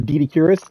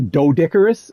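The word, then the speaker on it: Doedicurus: sort of thing, and scientists referring to this as Dedicurus. A lot of people pronounce it as Dodicarus as well.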